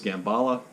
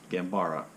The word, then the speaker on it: Gambara: masterpiece and then uh the second one was gambala gambara i always get that name wrong anyway the second story was gambara so